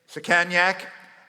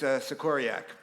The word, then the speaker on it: Sikoriak: When he was, and I would correct him, and he would say, Sikanyak, and I'd say, it's Sikoriak. Saminsky.